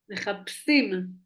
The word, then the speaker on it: מחפשים: מחפשים. מחפשים, כן. מחפש. Il y a un dégage dans le P, hein. Oui, mais les מחפשים, chines, elles ne prononcent pas comme un chine, elles prononcent comme un sin.